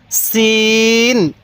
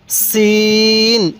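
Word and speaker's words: سين: হ্যাঁ এই হরফটির উচ্চারণ সিন কিভাবে পড়বো সিন আরেকবার বলুন সিন এবার বলবেন এই হরফটির উচ্চারণ কিভাবে পড়তে হবে হ্যাঁ সিন সিন তাহলে সিন তাহলে সিন হ্যাঁ সিনের উচ্চারণটা অনেকটাই চিকন আকারের হবে দেখুন সিন আমার সাথে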